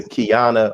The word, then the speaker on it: Qiana: and also a member of kingdom come sister kiana i pronounce that right yes sir got it right